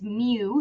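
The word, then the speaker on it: μ: decimal that comes out um and that's this Mew is how you pronounce that um and that is 9.09 so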